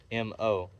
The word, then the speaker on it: MO: One of the perks of being overseer of a sector is the mobile office, or MO, pronounced Mo, as most called them.